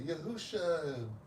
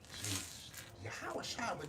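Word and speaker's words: Yahawashi: I forget her name, but uh she she was she was saying Yahusha Yahusha. She was saying the name wrong for years. name Brenda or something. But um Yahawash never she came with the right name the other.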